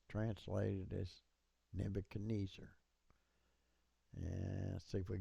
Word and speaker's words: Nebuchadnezzar: a Shabbat here, and it's pronounced, so it's Nebuchad. This Shabbat follows a short vowel, so it's not pronounced. Netz, tz, because of the doggish, ar. And the r's are usually rolled, so it'd be tzar.